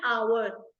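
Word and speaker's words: hour: और इंपॉर्टेंट या फिर शब्द बिगनिंग विद साइलेंट और अवर यहां पे हा नहीं अगर हा ना भी हो तो भी हम इसको अवर ही बोल सकते हैं एक्स साइलेंट है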